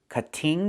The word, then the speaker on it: cutting: We cannot pronounce the word this way. We cannot say I'm cutting the tree. It's pronounced cutting. Move the stress to the first syllable. Cut. Not cutting, but cutting.